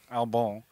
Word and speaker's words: Albon: him uh first off Americans I think would just call him Albin but it's Al albon is it ALB Al is a French pronunciation albone I'm just GNA call